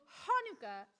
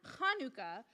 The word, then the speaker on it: Hanukkah: the applesauce the dog both hanuka and hanuka are right the holiday's name is Hebrew so there are different ways to spell it and say it in English Hanukah or hanuka thanks applesauce says Lu